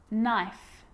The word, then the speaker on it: knife: you know this one a k is not pronounced when it comes before an n like knife no knee knock not